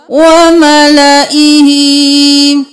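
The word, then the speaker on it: وَمَلَئِهِ: इला फिर व मला व मला ही नहीं करना अलिफ साइलेंट होगा व मला ही यूसुफ की आयत नंबर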